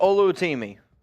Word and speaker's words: Oluwatimi: I think he just goes by Olu oluwatimi pronunciation on this uh James for us what is that uh Olu Olu timi uh now his friends call him Victor uh